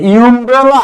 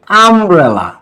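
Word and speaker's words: umbrella: দেখো তো এইটাকে তোমরা কি বলো, ইউমব্রেলা নাকি আমব্রেলা? এইবার কিন্তু ইউ এর উচ্চারণ ইউ না, এইবার ইউ এর উচ্চারণ কি হয়েছে, আ।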